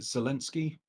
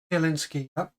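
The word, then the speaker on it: Zelensky: What is what is weird is that um is it how do you pronounce is it Zinski? Zalinski.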